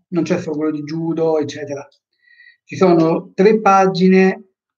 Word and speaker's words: Judo: Per Judo sì, per Jujutsu sì, perché vuol dire morbido si legge sempre lungo.